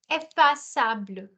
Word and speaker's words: effaçable: However, you have sa. Effaçable. Sa ka sound ho jayega yahan.